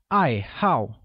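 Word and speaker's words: 爱好: hobbies hobby translates as I how which is pronounced with a falling tone on both a z' once again it's I how good note that the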